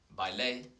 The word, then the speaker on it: bailé: And the accent is really important because it changes. Baile, un baile is a dance, but bailé is I danced. So it kind of changes the pronunciation. It's the accentuated or emphasized syllable, the one with the tilde, with the accent.